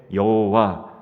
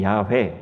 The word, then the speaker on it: 여호와: 이름을 읽어야 할 때 그 자음과 아도나이라는 모음을 결합해서 그 이름이 생겨나게 된 것 그것을 우리가 읽을 때 여호와 또 때로는 야훼 이렇게 발음하게 된 것입니다 모세는 여호와 스스로 있는